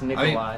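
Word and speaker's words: Nicolai: It's Nikolai.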